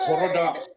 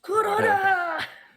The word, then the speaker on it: Kuroda: Koroda. No, you have to say it like this. Koroda pins. Koroda pins. Corona. Kuroda. Oh, Now, Kuroda. Holy god, Kuroda.